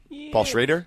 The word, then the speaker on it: Paul Schrader: don't know is the that's how you pronounce his name correctly right Paul Schrader I think it's traitor traitor a pulse Raider he